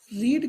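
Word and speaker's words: read: रीड की तीनों form एक सी होती हैं, स्पेलिंग एक सी होती है। फर्स्ट फॉर्म को रीड पढ़ते हैं, तीसरे को रेड बोला जाता है।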